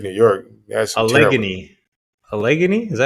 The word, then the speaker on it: Allegheny: Allegheny? Is that how you pronounce it?